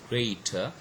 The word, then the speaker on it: greater: Okay, the word greater has got two syllables, and the first must be stressed.